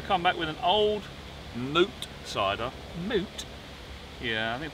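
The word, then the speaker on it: Mout: So we come back with an old moot cider. Moot? Yeah, I think people call it mount, but it's not. It's moot.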